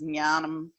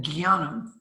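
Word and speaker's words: ज्ञानम्: terms of the texts, it was always pronounced as jnanam, Jnanam. like that. Jnanam is different than gyanam, which is how it's pronounced in the North.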